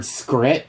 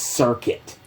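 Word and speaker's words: Serket: wrong, because they were calling a card Scrit when it was Circuit.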